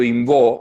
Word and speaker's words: Imbaud: Bien, si bien yo me llamo Imbó, se pronuncia así el apellido, se escribe igual que el poeta maldito, que Arthur Rimbaud, nada más que me falta la R inicial.